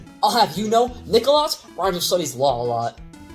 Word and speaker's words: Nikkalotz: It's pronounced Nikkalotz.